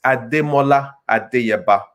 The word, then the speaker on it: Ademola Adeyeba: Well, actually, with the accents, it's Ademola Adeyeba. So there's a few pronunciations in there that's not in the English language.